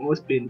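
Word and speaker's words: Ozpin: I learned from Ospin, that's how it's pronounced, and sorry about Friday, I was ill and couldn't record, so here it is the backup for you.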